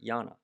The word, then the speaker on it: Llana: Joining me today, she's a singer, she's a songwriter, she's also from Mississippi, Schaefer Llana. Hello. Hello. The double L pronunciation.